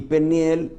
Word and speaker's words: Peniel: le llama Peniel y Peniel Aunque está escrito penuel algo así la u tiene una pronunciación de griega Peniel significa rostro de